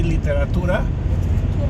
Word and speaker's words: literatura: so the word literature in Spanish, it's spelled basically the same, but we say literatura.